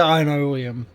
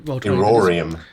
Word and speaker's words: Irorium: I've been calling it the Ironium, but it's totally not how that's pronounced. Because I can't pronounce it.